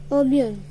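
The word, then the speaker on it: 오븐: Now I'll teach you how to pronounce it in Korean, and we say it as obeun, obeun, O-B-E-U-N, obeun, obeun, obeun, obeun, oven.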